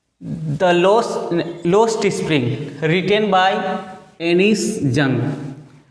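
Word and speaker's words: Anees Jung: अगर हिंदी में बात करें हम लोग तो अनीस जंग इनका नाम होता है. सिंस इंग्लिश डिक्शन में प्रोनाउंसिएशन थोड़ा डिफरेंट हो जाता है, सो हम लोग इनको इंग्लिश में एनिस जंग बोलेंगे एंड in Hindi I would call अनीस जंग.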